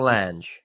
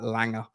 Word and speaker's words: Lange: Langer or Lange? Apparently it's Langer, mate. Apparently it's Langer. I've said Lange a few times, and people in my comments were like, "Nah, he's from Scandinavia. You pronounce that Langer."